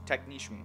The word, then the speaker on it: Technetium: interesting element at least I think it's called tech neti tech netting technician technician it's pronounced technician apparently it actually comes to the Greek word